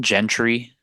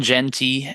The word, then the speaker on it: Jeanty: pack still Mr Ashton Gentry uh or G how do you say his last name Genty I apologize r no R in the last name it's confusing Ashton jenty at plus 230 odds